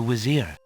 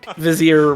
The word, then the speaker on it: vizier: They need to know about the Wizir. Cima needs you, too. What is this? What conspiracy leads them all to pronouncing Vizier with a W?